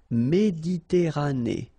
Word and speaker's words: Méditerranée: Okay, here final not pronounced, but then you pronounce this E at the end. Méditerranée.